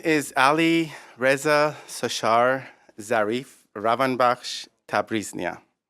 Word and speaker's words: Sashar Zarif: in your presence my name is ali reza sushar Zarif Rothenburg Tabriz Mia it's spelled al I are easy ASAS H AR